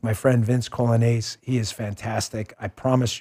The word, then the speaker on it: Coglianese: Here's how you spell the last name, you know, with us Italians. It's Coglianese, okay? It's pronounced Colonnese, but Coglianese.